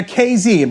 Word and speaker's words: Kazee: here's a guy that comes in here now kz by the way it's pronounced kz like jay-z kz uh torn achilles in week